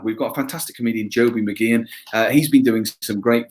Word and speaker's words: Mageean: We've got a fantastic comedian, Joby McGeehan.